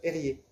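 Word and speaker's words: Erge: Il s'appelle Erié, sauf que ça s'écrit E-R-G-E, ça se prononce Erié.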